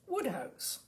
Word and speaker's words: Wodehouse: That is Wodehouse, pronounced Woodhouse.